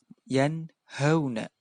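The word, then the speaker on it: يَنْهَوْنَ: Cara membacanya harus dibaca jelas. Yanhauna. Tidak boleh dibaca yanhauna. Yanhauna. Tidak boleh. Kenapa? Karena izhar cara membacanya adalah jelas.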